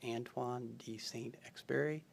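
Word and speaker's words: Antoine de Saint-Exupéry: to take away uh Freddie told me that first name is pronounced Antoine D saint experi thanks Freddie and uh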